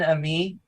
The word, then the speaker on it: Ammi: um is it how is your last name pronounced I'm me a me Ken Ami yep okay teach him and Ken and me